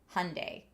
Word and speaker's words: Hyundai: that it is pronounced Hyundai. and they said if you have trouble remembering it think Sunday Monday Hy Sunday.